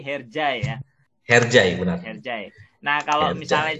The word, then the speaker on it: Hercai: sesi khusus nih Kayak misalnya hershey ajaib bacanya kalau di Indonesia her saya kalau di Turki herjaya kerjain Nah kalau misalnya